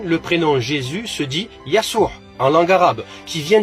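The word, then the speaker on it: يسوع: passage les amis que tous les prénoms commençant par la lettre J en langue française se prononce avec le y en langue arabe par exemple Jean Joseph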